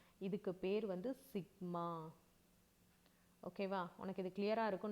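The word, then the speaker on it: σ: இதை நீ எப்படி ப்ரொனவுன்ஸ் பண்ணணும் அப்படின்னா சிக்மா.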